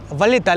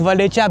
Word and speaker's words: Valletta: और कैपिटल का सही प्रोनाउंसिएशन है वलेता। लेकिन अलग-अलग लैंग्वेज में अलग-अलग एक्सेंट में कुछ लोग वलेचा भी बोलते हैं।